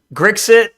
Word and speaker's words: Grixit: Grixit is how you say it.